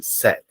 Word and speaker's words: said: verb say set set don't forget the pronunciation set for example the teacher